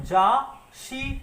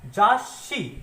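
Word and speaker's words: 雑誌: तो देखिए इसका प्रोनाउंसिएशन जाशी नहीं है, इसका प्रोनाउंसिएशन है जाशी।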